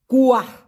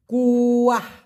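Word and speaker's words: kuah: Malaysian ভাষায় বলা হয় কুয়াহ কে ইউ এ হেইস উচ্চারণটা কি হবে কুয়াহ অনেকটা আমরা বলি না কুয়ার ভিতরে ব্যাঙ আছে এই সেই কুয়া না লাস্টে একটা হচ্ছে কুয়াহ কুয়াহ মানে হলো ঝোল আর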